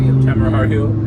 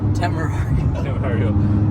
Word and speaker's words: Temerario: to look at what the, how do you pronounce the new one? Temerario. That's like 650 plus. Yeah, they're like so a moderate build on a, I can't say it. Temerario.